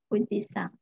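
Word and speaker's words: 富士山: Tapi dibacanya sang. Fuji-sang.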